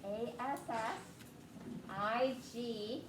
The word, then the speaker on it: assigned: the word assign assigned a-s-s i-g-n-e-d assigned oh it's got their tricky silent g in it aside so we're